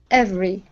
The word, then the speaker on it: every: good uh next is the word every now here you pronounced an f sound saying f free okay make a vibration in your throat here ev every every good good nice job